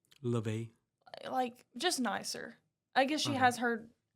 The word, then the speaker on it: Laufey: it's pronounced Leve. Oh, it is? Yeah. Like Levy? No. Well, cause I think she says it more in a better way. I thought it was Lafe. no, Like Lafayette. no. That's No? funny. I've heard her say her name, and she says it a little bit more like Leve.